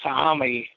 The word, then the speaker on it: Sa'ami: But they call it the Sa'ami, 3 syllables.